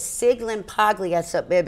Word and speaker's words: Sciglimpaglia: spill your last name again s-c-i-g-i-r-l-s so it's sig limp ugly yet so babe it's like a silent s